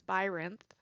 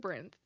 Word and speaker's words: Byrinth: say my username as by rinth I said it I pronounce it brenth I would say that